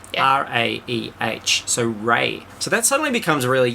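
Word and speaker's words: Raeh: This Rey is spelled R-A-E-H. R-A-E-H. That's hard to say. Yeah. R-A-E-H. So Rey.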